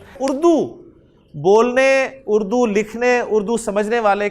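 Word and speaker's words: باء: उर्दू में भी अलिफ बोलते हैं, अरबी में भी इसे अलिफ बोलेंगे। बा उर्दू में आप इसे बे बोलते हैं, ठीक है ना।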